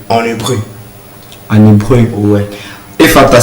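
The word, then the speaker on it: Ephata: Et disons, pour la chorale Efata, ce qui veut dire ça nous a été trop bien sûr, trop bénéfique dans ce sens-là.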